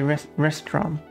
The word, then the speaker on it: restaurant: So you should not say restaurants in English. That's incorrect. It should be restaurant. Restaurant without the S at the end. You still write it out, though we don't pronounce it.